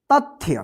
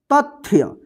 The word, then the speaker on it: तथ्य: इसको क्या पढ़ेंगे तथ्य देखिए जहां पे भी आधा अक्षर रहेगा वहां पे जो है ना अ रहित उच्चारण होगे यानी अ का साउंड नहीं आएगा जल्दी उच्चार हो जाएगा तथ्य तथ्य मत पढ़िए त थय नहीं तथ्य थ जो है